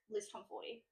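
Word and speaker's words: Liz Tomforde: The Right Move, Liz Tom 40, which I found out is actually how you pronounce her name the other day.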